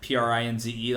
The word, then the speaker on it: Prinze: And it's Prince, like Prinze, like how Freddie Prinze is spelled.